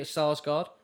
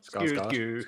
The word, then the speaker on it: Skarsgård: Is it Sarsgaard or Starsgaard? Skarsgård. Skarsgård, thank you. I can never pronounce it You're a properly. Swedish chef. Is that racist? No, you don't actually pronounce... See, that's what I found out in Scandinavian. The AAD is it's not ah. So it's like Skarsgård. It's like that.